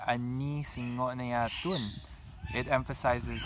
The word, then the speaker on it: singngo: So I want you to make sure you pronounce each and every single consonant, not glide it together, okay? So it's Singngo, not just Singngo.